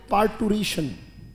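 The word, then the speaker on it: parturition: Word आता है, बोले पार्टूरेशन। शाबाश, पहले उच्चारण क्लियर करें, बोले पार्टूरेशन, वेरी गुड। अब हम लिख लेंगे PAR, पार्टूरेशन, RITION, पार्टूरेशन। उच्चारण क्या है? पार, र को साइलेंट भी रख सकते हैं, पार्टूरेशन।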